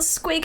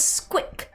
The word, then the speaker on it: Squick: No, his name wasn't Squig, his name was Squick. With a K at the end, Squick.